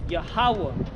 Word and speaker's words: Yahweh: So it reads Yah, Ha, and this is Wa, and then Ha. But the connector means the A sounding between these two is silent. So is Yahweh, and this is the